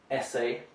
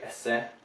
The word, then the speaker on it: essay: Essay. Russians might tend to say esse, so they're clipping the French ending and making it short.